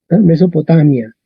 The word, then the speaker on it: Mesopotamia: Ok, miramos la penúltima. La penúltima es mi. Vocal corta. Tac, acento en la A. Y en español, ¿cómo decimos esto? Igual. Mesopotamia. Mesopotamia.